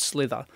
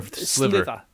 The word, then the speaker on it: sliver: So if you hear me use the word slither, slither or sliver? Sliver. Sliver, okay. I probably can't say it properly. Right. So Slither's like a snake. Sliver's like a piece of wood that goes into your finger.